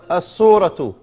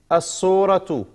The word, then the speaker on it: الصورة: الصورة. You don't pronounce the lam here. إلى is two. الصورة.